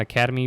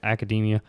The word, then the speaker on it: Academia: how you pronounce that I know it's not Academy but I think it's like academia you know the artists